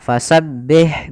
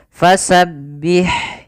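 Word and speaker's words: فسبح: kemudianabbiham ir innahuana tawwaba Kemudian pada lafal fasabbih sempurnakan kasrahnya Jangan dibaca e contoh fasabbih bihamdi ini kan tidak menyempurnakan kasrahnya Harusnya kita ada itmamul harakat menyempurnakan harakat kasrahnya Kemudian pada lafal Ha Ada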